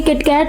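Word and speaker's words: キットカット: वहां से तेरे लिए किटकैट लेके आया। इन सबका रीजन है किटकैट का नाम। जापान में इसे किटोकाटो प्रोनाउंस किया जाता है जो जापानीज किटोकासू से मिलता है।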